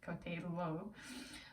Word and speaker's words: coltello: So the first one was coltello. It's Italian, so double L's pronounced coltello, and that translates to English as knife.